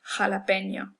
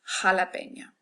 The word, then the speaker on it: jalapeño: Our next letter is J, which, as I just stated, is pronounced like that hard back of the throat H in English. The word that we probably most commonly know with this is jalapeño.